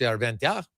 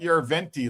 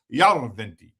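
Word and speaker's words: Järventie: They emphasize the first syllable. So, it's not Yurventi like we would call him. It's Yoventi.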